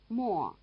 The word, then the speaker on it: Mo: Wo, Luo, Mo. Listen again and notice that they rhyme. All 3 end in wo. Wo, Luo, Mo. In this case, the semivowel is not written after M. There's no U.